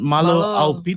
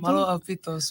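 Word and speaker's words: Mālō ʻaupito: Malo Aupito. Malo Aupito. Malo Aupito.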